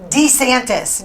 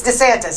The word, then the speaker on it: DeSantis: own name he said I'm Ron d santis d d it's DeSantis isn't it I think so but